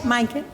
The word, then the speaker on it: Maaike: And then just to talk to Maaike, is that how you say it? Thank you, Lette Vos. Yes, Maaike.